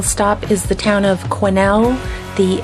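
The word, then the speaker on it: Quesnel: town optional stop is the town of Cornell the S is silent and in Cornell you'll also find some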